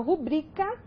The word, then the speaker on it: rubrica: Então, por exemplo, quando eu falo rubrica, nós temos última sílaba K, penúltima sílaba BRI e a antepenúltima RU. Então, nós temos aí BRI, é uma paroxítona, então nós temos a sílaba tônica da palavra. Então, o acento prosódico recai aqui na penúltima sílaba. Então, essa palavra é uma paroxítona, ok?